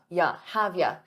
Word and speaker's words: have you: For pronunciation, I said have you, but a lot of native speakers reduce you to just a ya, have ya, have ya nailed.